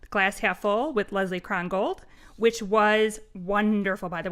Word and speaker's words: Krongold: On today's show, we are thrilled to be speaking with Leslie Krongold. Is that correct pronunciation, Leslie?